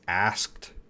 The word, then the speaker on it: asked: Billy, how to pronounce asked? Asked. That's going to have a T sound.